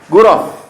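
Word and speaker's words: غرف: Ghuraf ya? Iya, ghuraf bacanya kalau di waqaf ya.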